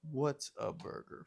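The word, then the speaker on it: Whataburger: Look, it's orange and white like waterburger. Water. I'm trying to say it properly. We say water burger. Uh, what a burger for all you non Texans.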